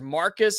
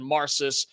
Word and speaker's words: Marcis: I've heard it pronounced as Marcus as well, like a hard C, but I believe it's a soft C in Marcis Ponder.